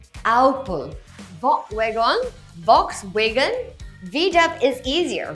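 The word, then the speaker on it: Opel: Oh-paal? Oh-pell? It's actually Ow-puhl.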